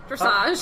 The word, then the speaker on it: dressage: So what is was that, I don't know how to pronounce, dressage or something? Is that a thing? Yes, dressage.